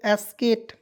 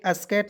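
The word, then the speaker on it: skate: बता रहा हूं दोस्तों एस के ए टीई तो क्या बना दोस्तों एस केट ए से आधा स के से क लिख दीजिए ठीक एस और एटी को एट लिखेंगे तो ट लिख दीजिएगा एट हो जाएगा एस्केट स्केट नहीं स्केट जैसे मान लीजिए य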